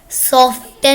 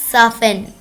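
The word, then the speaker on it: soften: सॉफ्टन नहीं होता, साफन, नरम करना।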